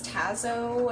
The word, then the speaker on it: Tazo: I've ever tried was Tazo. I think that's how it's pronounced, like T-A-Z-O.